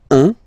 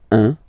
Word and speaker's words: un: Okay, then un. All right, so when you combine this u and n, you get the nasal sound un, un. Deux.